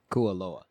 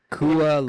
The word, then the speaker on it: Kualoa: We went to Kahlua Ranch, where it's like for the movies, right? Would you say? Can I correct you? Oh God, did I say it wrong? Yeah. Kualoa.